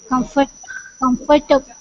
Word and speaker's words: comfortable: We don't have to pronounce table as in table is comfortable. It becomes comfortable.